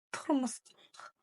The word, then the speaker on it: тұрмыстық: Давайте научимся читать слово турмусток. Турмусток. Тур, тур, тур, турмус, турмус, турмусток. Турмусток. Как прочитать букву У с черточкой снизу? Очень и очень просто. Это ведь краткая версия буквы О.